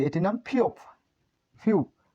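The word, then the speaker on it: 피읖: ফিওপের উচ্চারণ ফ, প্রথম স্টপে ফ, দ্বিতীয় স্টপেও ফ, এবং তৃতীয় স্টপে প উচ্চারিত হয়।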